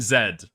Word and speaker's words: zed: What do you mean, Zed? Yeah, that's the British way of pronouncing it, right?